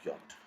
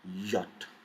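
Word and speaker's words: Jot: we will never pronounce it as i we pronounce it as e so let's practice the next we have is yacht now always always sounds as yeah and sound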